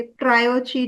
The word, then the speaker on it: tarot: टैरो नाम दिया गया जिसमें टी साइलेंट है ओके टी साइलेंट टेरेट की जगह हम या जनरली लोग टेरट टेरेट करते हैं बट इट्स नॉट टैट इट्स हां ये कहानी मुझे